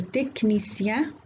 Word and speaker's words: technicien: C plus H se prononce K. إذن هذا الحرف المركب ينطق مثل الحرف K في بعض الكلمات في اللغة الفرنسية comme le technicien, le psychologue, le chronomètre.